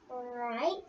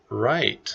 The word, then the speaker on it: right: Right. Right. It is right. The W is silent.